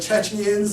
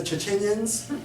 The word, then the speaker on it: Chechens: And or they mispronounce the Chechens and they call them the Chechenians.